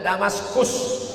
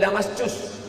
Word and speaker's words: Damaskus: Yordania ibu kotanya Amman, Palestina ibu kotanya Baitul Maqdis, sedangkan Suriah ibu kotanya Damaskus. Tulisannya pakai C, jangan bacanya Damascus.